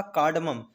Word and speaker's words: cardamom: चौथा कार्डमम, CARDAMOM। कार्डमम कार्डमम मतलब इलायची। इसे हम कार्डमम नहीं पढ़ेंगे, कार रा का उच्चारण नहीं आएगा इसमें।